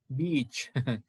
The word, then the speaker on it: beach: That's a different beach with a long E pronunciation refers to that long stretch of sand that you love to go to during vacation. Okay, but with a short I, beach, then that's refers to the female dog.